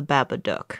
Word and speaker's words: Babadook: get rid of the Babadook. So it is It's Duck. gotta be Duck. Because it rhymes with look.